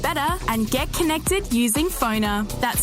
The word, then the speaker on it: Phoner: Find people easier, market yourself better, and get connected using Phoner. That's spelled P-F-O-N-R.